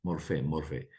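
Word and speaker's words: μορφή: Aquí está la palabra forma morfé, que es cómo se pronuncia. Este es el griego, morfé se pronuncia, morfé.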